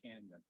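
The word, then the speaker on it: Cañon: Carl but maybe even Canon itself get shut down for a day or two by the way is pronounced Canyon Canyon okay I'm sorry it's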